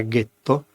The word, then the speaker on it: ghetto: per gli ebrei tedeschi la pronuncia era Ghetto appunto il ghetto più